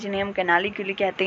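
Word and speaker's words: canaliculi: Actually ये थोड़ी सी pronunciation अलग है, मैं कैनालिक्यूली कहती हूँ इन्हें, या तो आप कैनाली क्ल्यू अलग से बोल सकते हो, सो एज योर विश।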